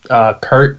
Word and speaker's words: Kurt: take the door yeah my name is Kurt rhymes with dirt shirts or heard all